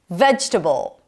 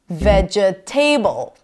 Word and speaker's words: vegetable: Vegetable. Primary stress is on the first syllable, not vegetable.